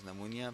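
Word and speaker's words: pneumonia: हैं हम यूज करते हैं दुनिया में रेटेड नमोनिया पीड़ित साइलेंट है एन-यू एम ओ एन आई ऐ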